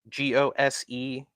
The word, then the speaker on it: Gose: Yeah, I believe it's pronounced ghost. Chris, you might know better. Gose.